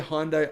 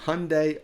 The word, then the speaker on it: Hyundai: Anyway, speaking of the Hyundai Ioniq 5, or Hyundai Ioniq 5, I know you guys pronounce it that way in America, the combined discounts are up to $10,000 on some Ioniq 5 EVs.